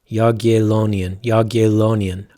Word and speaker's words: Jagiellonian: It's pronounced Jagiellonian.